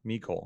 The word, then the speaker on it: Mecole: Mecole.